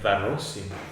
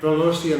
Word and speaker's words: Varosian: Say it right. Varosian. Rosian Empire. Varosian. I know you have to say it like you're eating your tongue. It's gonna have the Russian accent.